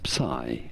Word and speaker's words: psi: But in English, yes, it is generally said as psi.